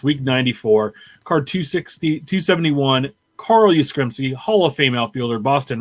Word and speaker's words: Yastrzemski: And then on Christmas Day, we received a present from Topps, week 94, card 271, Carl Yastrzemski, Hall of Fame outfielder, Boston Red Sox.